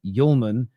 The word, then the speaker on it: Hjulmand: It's pronounced Hjulmand.